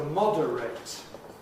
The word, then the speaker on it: moderate: To moderate, verb, 3 syllables, no compression. Moderate, adjective, yes, it can be compressed, moderate, moderately.